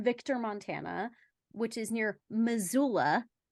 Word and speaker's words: Missoula: So the thing about this particular mead is it's from Victor, Montana, which is near Missoula, how it's pronounced, my hometown.